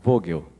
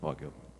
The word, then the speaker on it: Vögel: Já fazer uma correção aqui, é Vogel, né? Não é Vogel.